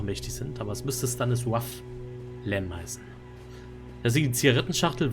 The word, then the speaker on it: Stanisław: übrigens wird der Gute nicht Stanisław, sondern Stanisław ausgesprochen. Ich habe eine polnische Kollegin auf Arbeit, die habe mich gefragt, das kleine L durchgestrichen, spricht so wach.